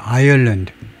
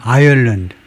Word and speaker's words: Ireland: 이 국가 아일랜드는 아일랜드가 아니고 아이얼랜드. 발음기로 나타내면요. 이렇게 되는데 앞에다 액센트를 두고 이게 더 들어가요. 이 섬은 아일랜드고요. 아일랜드고 이 국가 이름은 아이얼랜드.